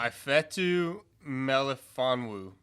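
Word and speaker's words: Ifeatu Melifonwu: the pronunciation below it i wish what's a pronunciation i fetu melifonwu well done well done is that exactly how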